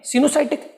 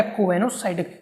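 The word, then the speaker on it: coenocytic: इसको कुछ टीचर ओ को साइलेंट मानेंगे, कुछ टीचर क्या करते हैं, ओ को साइलेंट मान लेते हैं, तो इसको क्या पढ़ देंगे, सिनोसाइटिक। क्या पढ़ेंगे, सिनोसाइटिक। लेकिन अगर ओ को पढ़ा जाए तो क्या बनेगा, कोएनोसाइटिक।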